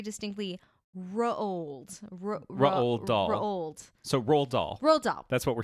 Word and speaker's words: Roald Dahl: were saying very distinctly ro old dog so roll doll rolled up that's what we're saying hooray i